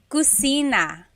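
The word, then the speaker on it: kusina: So, kitchen in Tagalog is cusina. Cusina. So, in Tagalog, there is no letter C. Okay. So, in Spanish, if it's spelled with a C, usually in Tagalog, it's spelled with a K because there's no letter C naturally found in the Tagalog alphabet. So, the cosina is the kitchen.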